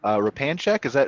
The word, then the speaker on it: Repanshek: We got Repanshek. Am I pronouncing that right? No, you got the part right. All right. How do I say it then? Repanshek.